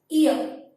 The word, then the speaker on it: year: Y-E-A-R. Ear. Pronunciation of this particular word is ear. Means in phonetics alphabet we can write it as ear. It is started with a vowel sound but consonant letter.